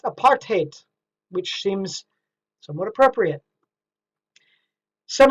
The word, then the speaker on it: apartheid: was for whites only in Afrikaans it's pronounced apartheid which seems somewhat appropriate